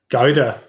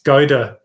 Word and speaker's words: Gouda: originating from which country gaiden my dad shouting at me saying gaida just proves how uncultured i am that can't even pronounce cheese right it's gaida is a popular cheese